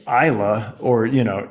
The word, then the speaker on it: Islay: and you look it up and you say Isla or you know islay is what I how I thought it used to be pronounced and eventually I learned it's Isla and